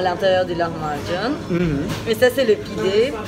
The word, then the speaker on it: lahmacun: Lahmacun, tu prononces comment? Lahmacun? Lahmacun.